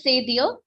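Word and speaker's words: cédille: That's or Francais it is c'est dire.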